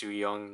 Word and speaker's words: Sooyoung: I figured out it's supposed to be pronounced Sooyoung though, but not Soyeon.